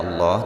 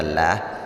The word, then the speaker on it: Allah: dipanjangkan 2 harga kemudian lafaz Allah di sini dibaca dengan tebal artinya dibaca Allah tidak dibaca lah karena sebelum huruf lewat Allah berharakat dhomah dan lafadz Allah di